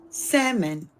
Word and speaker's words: salmon: Y'all should have never put the damn L in that if you didn't want it pronounced.